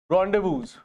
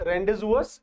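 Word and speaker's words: rendezvous: That is known as रॉन्डेवूज, है ना। इसमें एक ओ और आएगा, है ना, फाइन। बट इनकी जो प्रोनाउंसिएशन है that is नॉट रेंडेजुअस, इट इज रॉन्डेवू, right.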